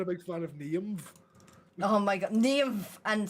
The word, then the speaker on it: Niamh: Sorry, I'm quite passionate when it comes to pronunciation. What can I say? You're not a big fan of Niamh?